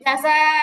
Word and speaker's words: جزاء: শুনেন খেয়াল আগে শুনেন এই যা যা এরকম হবে না যা যা এরকম হবে না উচ্চারণটা হবে জাযা জাযা ঠিক আছে জাযা ওকে